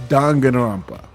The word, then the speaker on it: Danganronpa: The the pron the the correct pronunciation for Dingrampa is Danganrampa.